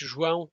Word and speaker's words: João: Is it Zhao? Have I said your name right? I'm sorry. Close enough. So it's pronounced João, but it's quite hard.